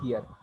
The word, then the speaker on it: her: No necessary to pronounce r sound at the end, but you have to say long here, her. But it seems that I'm saying r at the end, but I'm not saying at all.